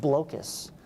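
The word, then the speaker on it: Blokus: this if anyone has the board game blockus or sometimes pronounced blocus right excellent board game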